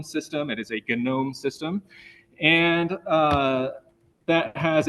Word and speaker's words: GNOME: start with G and the cool kids pronounce that g with a hard G so this is not a gnome system it is a gnome system and uh that